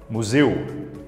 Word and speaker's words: museu: Perceba a pronúncia de chapéu. El, museu, eu. Chamamos essa diferença de aberto e fechado. Enquanto um cresce, né? El, o outro é parado, grave, eu.